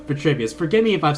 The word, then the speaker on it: Vitruvius: Vitruvius. I think I said it wrong. Vitruvius.